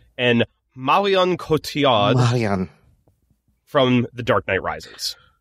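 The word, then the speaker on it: Marion Cotillard: to look this up so i knew i pronounced it right and marian kotiad from the dark knight rises those are some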